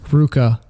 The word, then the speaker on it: RVCA: I know you would how to pronounce RVCA Ruka isn't that weird how you pronounce RVCA and how did